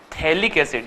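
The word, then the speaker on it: phthalic: तो इसको हम बोलेंगे थैलिक्स याद रखिए प साइलेंट है लिक एसिड और अगर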